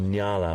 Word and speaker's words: nyala: female these particular species is called Nala which is spelled n y a l a it's a beautiful word when you say it Nala and their females you